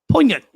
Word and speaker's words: poignant: Poignant The G is of silent.